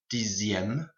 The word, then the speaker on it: dixième: Pronunciation, the X here and the X here becomes a Z sound, so sixième, dixième, and then be careful of 9, it goes to neuvième and not neuvième.